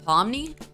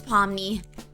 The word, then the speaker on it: Pomni: Okay, I don't even want to try to pronounce that though. I'm pretty sure I heard another student address her as Pomni. Um, extra extra touch. It's Pomney, she says, covering the plaque on her desk with one of her gloves.